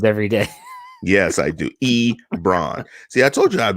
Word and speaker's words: Ebron: day yes I do e bran see I told you I'd be able to do that one again because it's like LeBron but with an e in front actually yeah